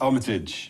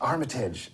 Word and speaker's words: Armitage: oh did I wait how do I pronounce no no it's it's Armitage Armitage ah you're good everyone